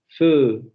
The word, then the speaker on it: feu: feu, Vean, es como si pronunciáramos, por ejemplo, la palabra fe en español, pero en lugar de decir fe, simplemente redondeamos los labios al final de la vocal o en el fonema vocálico y naturalmente va a salir este sonido. Feu, feu, feu, feu. Como solamente con la palabra fe. Si pronunciamos la palabra fe y redondeamos, sale este sonido.